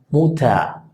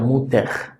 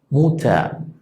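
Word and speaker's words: Mutter: si fuera una A, muta, muta, no suena muter, muta.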